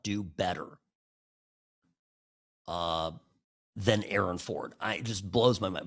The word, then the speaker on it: Aaron Ford: But he goes by Aon Ford. So just this where my I always want to emphasize the A in respect to how he wants to pronounce his name.